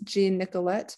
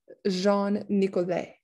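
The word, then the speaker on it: Jean Nicolet: i pronounce this as gene nicolette but i it's a french name so it'd be jean nicoday the first european explorer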